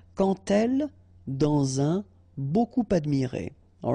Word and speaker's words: quand: So like that, quand elle, all right, same rule here. Remember, when you will have this d, you will phonetically pronounce it like t.